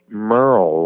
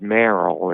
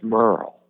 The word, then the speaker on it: Merrell: My relatives were all from Switzerland, and actually my first name is pronounced Merle, like Merle Haggard, but the way my parents spelled it, people want to pronounce it Merrill until they hear it enough, but it's Merle.